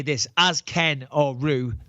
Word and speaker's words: Ryu: And I will just say this, as Ken or Ryu, not Ryu, that's how you pronounce it, idiots.